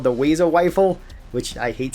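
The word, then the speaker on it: Wazer Wifle: so the very first one is called the wayo Wile which I hate saying it like that but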